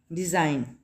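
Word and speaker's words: design: डिज़ाइन, जी silent है, यहाँ पे हमने जी की साउंड को हमने प्रोनाउंस नहीं किया, ठीक है।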